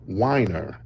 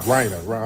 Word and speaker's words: Reiner: Um, first, you know, I got to give a RIP to um actor and director Rob Winer. Yeah, Rob Winer. Rob Reiner. I'm up here giving the mispronouncing the man's name.